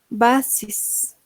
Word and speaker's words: buses: Y se va a leer basis.